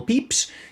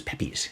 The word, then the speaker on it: Pepys: So there's this guy back in 1666, Samuel Pepys. I always thought his name was Pepys. It's spelled P-E-P-Y-S, you know?